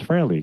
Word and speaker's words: Frehley: And Howard, thank you for pronouncing it properly. It's Frehley.